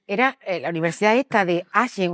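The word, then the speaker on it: Aachen: aen aquisgran a ver en en alemán no se dice akran se dice enen o agen vale esa universidad Es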